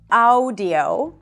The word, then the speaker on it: audio: a phonetic language, and when you see those two letters, it doesn't necessarily represent the sound ow. So this is not audio, and this is not awesome, but both vowel letters actually represent one vowel sound, and that is ah.